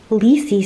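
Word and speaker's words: Lisey: is my Kindle so I'm currently reading this leasy story I always forget how to pronounce it cuz it seems unnatural to say it that way but that's how it's pronounced Ley Story by Stephen King um to be honest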